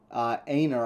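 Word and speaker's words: Einar: guy named en and I don't know if I'm pronouncing that right but it's e i n a r Anor I think thin pronounced it so Anor and him become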